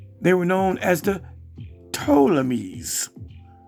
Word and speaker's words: Ptolemies: When the Greeks invaded Egypt, they were known as the Ptolemies. And it starts with a P and then a T, but the P is silent.